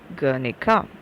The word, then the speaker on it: Guernica: uh shown in the transcription there it is pronounced as guernica okay and it is a place name okay